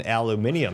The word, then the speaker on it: aluminium: Oh, I mean, but if you say it like a British person, aluminium, it sounds fancy.